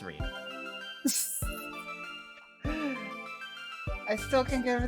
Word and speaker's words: Rin: separate from Reen, and notably, it caused me to question the pronunciation of Reen for about half a year. But that arc is finished. The character's name is Reen.